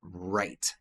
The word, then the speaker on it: right: Right. Right. Sim. Esse de H que é mudo.